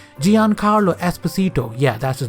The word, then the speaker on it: Giancarlo Esposito: a second how do you say his name Giancarlo Esposito yeah that's his name voice Faraday in Edge